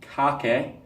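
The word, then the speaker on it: kake: open-handed grabbing block roughly it's spelled k a ke but it said Kaka not tape or washi UK ROM block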